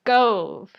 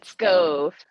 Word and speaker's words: Scove: it so fun and I said your name wrong it's Cove I said scove oh yeah that happens a lot it's go it's like stove but with a K instead of a t